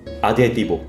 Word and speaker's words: 아드헤: 형용사라는 뜻하는 스페인어. 네. 아드헤티보. 라는 앞부분 발음이라고 합니다.